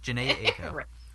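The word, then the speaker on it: Jhené Aiko: Next was the song, Hold On We're Going Home acoustic, and From Time featuring, I think, how you pronounce this, Janae Aiko? Janae, it was. Janae Aiko.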